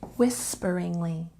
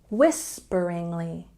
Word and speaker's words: whisperingly: say very quiet say whisperingly there's a stress on the first syllable whisperingly do you know what whisper means this is a whisper once again stress on the first syllable whisperingly whisperingly don't say she